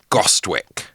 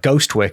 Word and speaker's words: Gostwick: Sir John Gostwick. Sir John is rubbish, but Gostwick is quite good. It's like Ghostwick, isn't it?